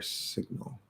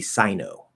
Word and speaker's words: signal: um i asked because you're completely ignoring that l and making it into more of an o sound which is a very portuguese thing to do um okay so